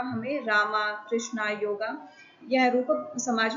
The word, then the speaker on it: योग: तो आर ए एम ए राम को इस प्रकार से लिखा जाएगा। परंतु यहां पढ़ने में रामा हो जाता है। इसी प्रकार से आपने देखा होगा कृष्णा शब्द और इसी प्रकार से आपने देखा होगा योगा शब्द। यद्यपि मूल रूप में ये शब्द क्या है? राम, कृष्ण और योग।